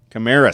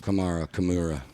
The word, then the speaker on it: Kamara: two how do you say his name who camra stop it threw me off Kamara CA sequan Barkley number three Bree Hall number